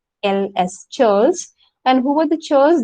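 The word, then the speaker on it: ceorls: group called charles the see the spelling it's pronounced charles c-e-o-r-l-s charles and who were the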